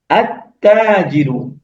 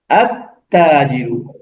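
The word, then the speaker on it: التاجر: আমরা লামকে বাদ দিয়ে সরাসরি তাতে চলে যাব এবং তাকে আমরা তাসদীদ দিয়ে পড়বো।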